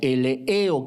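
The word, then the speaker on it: eleeo: La palabra misericordiosos viene del griego eleo, E-L-E-E-O, acento en la última E, eleo, que significa compasivo.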